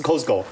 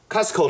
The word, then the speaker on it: Costco: po 他去 Costco，注意哦，是 Costco 哦，不是 Costco，好，发音很重要。